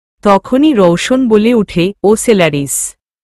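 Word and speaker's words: Ocellaris: শব্দতা উচ্চারণ হতে হতেও যেন হচ্ছে না। তখনই রৌশন বলে উঠে ওসলারিস।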